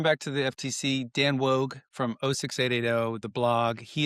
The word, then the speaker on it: Woog: to the FTC, Dan Woog from 06880, the blog, he is my former high school soccer coach, and you can't remember, but it's Dan Woog, which is WOOG, rhymes with Vogue, and Dan I mean,